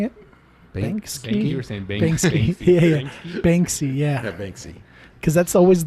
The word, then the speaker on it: Banksy: yeah I would say bangs Keys probably got it yeah even though I'm not a feeling I think you're saying is name wrong am I it's Banksy Banksy oh but there's a K in there they I know